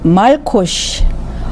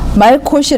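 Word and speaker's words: מלקוש: 라는 단어를 한번 보실까요 히브리 발음으로는 말코 쉭 말코 시 라는 건데 이것은 봄비 라는 뜻이에요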